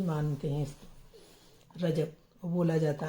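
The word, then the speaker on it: رجب: होता है तो ख्वाजा का महीना भी मान रजब बोला जाता है ख्वाजा का महीना रजब रजब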